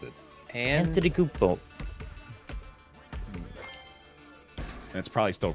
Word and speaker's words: Antetokounmpo: I had to learn how to pronounce it. Antetokounmpo.